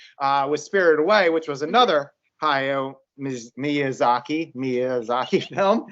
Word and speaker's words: Hayao Miyazaki: I'm going to try to pronounce his name. Hayao Miyazaki. Did I get that close? Hayao Miyazaki. Hayao Miyazaki.